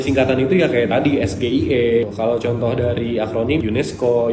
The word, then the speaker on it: SGIE: asing dengan akronim asing kalau pelafalan singkatan asing karena dia bukan sebuah kata Jadi disebutkannya huruf perhuruf dan huruf-hurufnya itu menggunakan huruf bahasa Indonesia Contohnya kayak sgie ini adalah benar disebutnya sgie Jadi bukan SGI pertimbangannya ya itu tadi